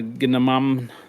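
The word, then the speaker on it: gnomon: You grab that uh ginam. That is spelled.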